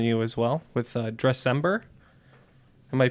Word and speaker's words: Dressember: cause in front of you as well with Dressember. Am I pronouncing that right?